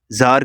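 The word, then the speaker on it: tsar: टू द जार king जार king को यहां पे जो टी है ये साइलेंट है तो इसका क्या मतलब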